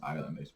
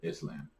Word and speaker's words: island: yeah although I heard a person in high school mispronounced Island they said Islam everyone laughed at I